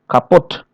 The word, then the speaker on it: kaputt: So here many foreign loan words, usually of French origin, okay, they stress the final syllable as in the source language.